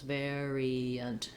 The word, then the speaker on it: variant: You want to just make sure that you have all three syllables. Variant, variant.